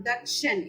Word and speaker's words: ദക്ഷൻ: അതുപോലെ മലയാളത്തില് ദക്ഷൻ എന്ന് നമ്മൾ പറയുന്നു, സംസ്കൃതത്തില് ദക്ഷൻ എന്ന് തന്നെ പറയണം. ദായുടെ ഉച്ചാരണം തന്നെ അവിടെ വരണം, ദക്ഷൻ, എ വരാൻ പാടില്ല.